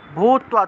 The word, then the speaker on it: ভূত্বা: চেতসা নিরাশির নির্মমো ভূত্বা, ভূত্বা তয় নিচে বফলা থাকায় তুয়া উচ্চারণ, নিরাশির নির্মমো ভূত্বা যুধ্যস্ব,